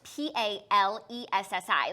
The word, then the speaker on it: Palessi: P-A-L-E-S-S-I. Like to make it seem like Payless, fancy. but Palessi.